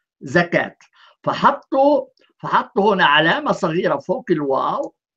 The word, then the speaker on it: زكاة: خذ مثلا الزكاة في الإملاء الحديث هو الزكاة، في الإملاء القرآني هو الزكوت، وفي الواقع الزكوت هي كلمة سريانية كتبت هكذا وتلفظ زكوت، فاحتفظوا بالكتابة السريانية ولكن بيقرأوها بالعربي زكاة.